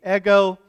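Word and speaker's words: ἐγώ: mean eggo i me it's not like what you put in the toaster oven this morning that was a frozen waffle like lego my eggo not that kind but same pronunciation eggo so a lot of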